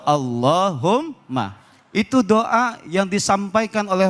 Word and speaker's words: Allahumma: Jadi enggak dibaca qulillahumma, tapi bacanya langsung Allahumma.